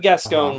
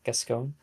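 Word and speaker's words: Gascón: winning picture you have gasone winning best actress which by the way pronounce her name correctly it's gasone that g gone oh is it not gone it's gasone you said gasone oh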